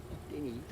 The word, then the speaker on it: Denny: Denny. That's how you pronounce it.